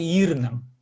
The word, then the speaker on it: ирнең: И надо вытянуть и ударение поставить на и. Шалахай ирнан.